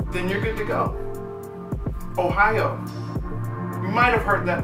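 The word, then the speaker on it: おはよう: you're good to go ohio you might have heard that before but ohio means good morning in japanese crazy right so all you got to say is ohio yeah it's a state and it's a way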